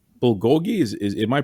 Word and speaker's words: bulgogi: my favorite restaurants and they have um it's bulgogi is is am i pronouncing that right that's what you're saying there